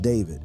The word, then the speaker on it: D4vd: Today, fans know him as David, pronounced David, a 20-year-old singer-songwriter who